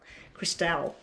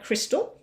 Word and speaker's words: Crystal: And it's Crystal, because I always thought it was Cristale. That's how I was always saying your name. And I still do it. Cristale. I just think it sounds exotic in French if I pronounce it that way.